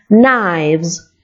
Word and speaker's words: knives: Se pronuncia knife, el singular, y knives, el plural.